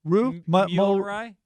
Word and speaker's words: Reuters: said on 11 22 i mispronounced reuters you said reuters it's reuters oh the news service yeah and that's from that's from michael uh that's from mike mulroy roo ray thanks mike mulru